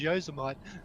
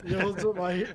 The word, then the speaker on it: Yosemite: Yeah, because we have Vegemite, so to me it was Yosemite. Yeah. Yosemite.